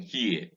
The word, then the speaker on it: here: fierce in ps in here h-e-r-e and h-e-a-r are homophones pronounced exactly the same way the sound occurs in